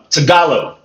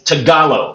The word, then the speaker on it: Tagalog: Well, in the Philippines, they speak, and I might pronounce this wrong, is Tagalog. If I'm pronouncing that right, the main language is Tagalog, okay?